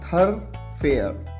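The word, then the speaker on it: thoroughfare: यहां पर जो वर्ड आपके सामने है इसे आप प्रोनाउंस करते हैं थरफेयर।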